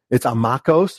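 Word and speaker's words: ἄμαχος: It's amakos, but the way it's spelled is like a machos. In the Greek, it would be not macho, a machos, right?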